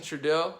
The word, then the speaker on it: Trudeau: Justin Trudeau, I finally said it right. I always say Trudeau.